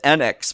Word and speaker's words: Enix: Of the Erd Tree by From Software, Final Fantasy VII Rebirth from Square Enix, and It's pronounced Enix, but nobody ever gets it right.